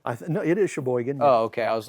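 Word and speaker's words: Chesaning: that what it's called I no it is Shaban oh okay I was like fun name would not be surprised if I butchered it say Shaban three times that's a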